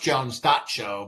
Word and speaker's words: Jones.show: So, but it's pronounced Jones dot show, but it's actually like the same as that.